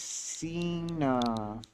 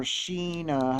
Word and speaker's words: Sina: let's write my name my name is sina or sheena however you want to say it there are multiple pronunciations yes is correct you carve your name